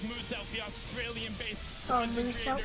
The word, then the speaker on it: Musa: Now, Musa wants Fish you to know his name is Musa. pronounced as Musa, the Australian-based Oh, content Musa, creator because I down there.